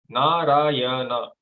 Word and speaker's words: Narayana: And because he is lying on the same water, he is called Narayana. Narayana. 4 syllables.